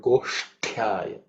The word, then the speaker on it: Goshthyaya: Pronunciation of the word Goshthyaya. The ush is cerebral aksha, so the tongue should be raised up. And the ta is the second ta in the ta varga, so it has to be aspirated.